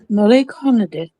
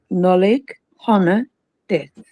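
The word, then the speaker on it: Nollaig Shona Duit: Nollaig Honadith. Can you say it again? Nollaig Honadith.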